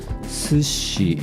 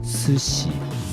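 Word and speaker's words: 寿司: my memory is correct sushi is originally supposed to be pronounced to see but more and more Japanese people pronounce sushi with a Tanaka accent recently I had never heard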